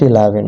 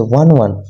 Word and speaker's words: 11: It is not 11. Okay. It is 1 one. You should pronounce 11 one always because it is 2G system. You should pronounce one one don't pronounce 11.